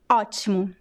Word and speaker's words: ótimo: So see that the last O here is at the end of a word and it is in a weak syllable. So in this case, most of the time this O sounds like a very weak U.